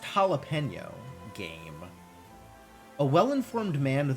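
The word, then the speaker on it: jalapeño: The jelly peno. What? It's pronounced jalapeno game.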